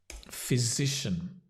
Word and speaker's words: physician: a little bit clearer physician wow complicated word sounds like fizzy like a fizzy drink phys physician F so it's a voiced z z that n is almost disappears physician and the stress on the SI or the Z physician can also talk